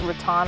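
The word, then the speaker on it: rattan: definitely put myself once I think it's pronounced Raton I'm sorry if I pronounce that wrong but it's r-a-t-t-a-n I want one of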